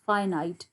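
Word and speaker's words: finite: अब ये क्या है, फाइनाइट, इट is pronounced as फाइनाइट, फाइनाइट एंड नॉन फाइनाइट verbs.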